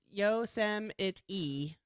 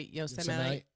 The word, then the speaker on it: Yosemite: I guess it's Yosemite. But I guess maybe some people say Yosemite.